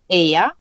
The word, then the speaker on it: Eyja: So if you say Eyja, Eyja, that means island.